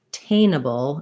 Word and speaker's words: attainable: schwa sound because we have the stress on the tain so in a word like attainable i would suggest saying attainable and then adding your attainable attainable because you want your schwa your first syllable to be very short and unstressed so attain a bowl um and then we have a syllabic l at the end there not much vowel at all basically no